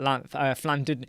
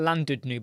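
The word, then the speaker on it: Llandudno: Oh, he's talking about Flandudnu. It's actually, isn't it pronounced Flandudnu? It looks like Landudnu, but it's Flandudnu, isn't it? Am I right?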